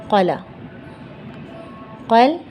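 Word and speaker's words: قلقلة: कहा जाता है कल कला कल कला इसे ऐसे भी लिखते हैं लेकिन यह ता साइलेंट हो जाता है कल कला हमने आपको बताया था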